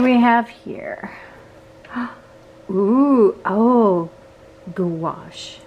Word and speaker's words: gouache: Ooh, oh, gouache. How do you say that? Gouache. I keep wanting to call it goulash.